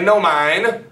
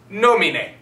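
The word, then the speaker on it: nomine: wheeler rustica wheeler rustica don't say no mine you pronounce every single letter no me nei no me nae no mine say it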